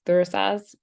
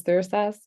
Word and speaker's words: Thurisaz: So I pronounce this Thursas, and I could be